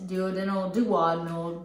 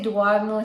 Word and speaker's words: duodenal: acronyms, which is DS, duodenal. People say, I say duodenal, she says duodenal. And it depends on where you're from, how you say it, because I've heard medical professionals say it both ways.